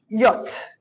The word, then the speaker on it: yacht: owns is the same yacht he took a picture of. Yacht is a boat. Some of us call it yacht because that's how we spell it, but it's called a yacht.